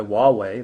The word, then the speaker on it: Huawei: 3g network the modem itself is manufactured by Huawei that's spelled hua weei for those either don't recognize